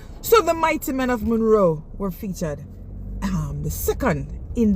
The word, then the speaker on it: Munro: I say ever Munro. You have to put the little accent on the M.